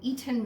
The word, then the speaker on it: Eton: According to Google, an eaten mess. And I say eaten like I'm the person who pronounces that other T in Toronto.